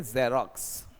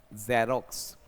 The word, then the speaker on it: Xerox: जैसे for example मैं बात कर रहा था कि जेरोक्स फोटोकॉपी, इंग्लिश में ये एक एक्शन है आपके पास, XEROX, इसका प्रोनाउंसिएशन है जेरोक्स। जेरोक्स, जेरोक्स। देखो जेरोक्स एक एक्शन भी है और नॉन एक्शन भी।